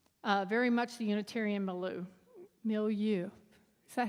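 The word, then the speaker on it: milieu: Uh, very much the Unitarian Mealoo Millu. Is that how you say it? Me? Millu.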